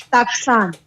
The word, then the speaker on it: takusan: So they say Takusan. It's Taksan.